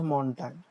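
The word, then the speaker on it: Montag: এবং যাদের প্রোনাউন্সিয়েশনের সমস্যা তারা বাংলাটাকে ফলো করতে পারেন, তাই বাংলাও দেওয়া আছে যাতে আপনাদের উচ্চারণ করতে সমস্যা না হয়। দেখেন এখানে প্রথমটাই হচ্ছে মনটাগ, যেটাকে আমরা সোমবার বলি বা মানডেই বলি।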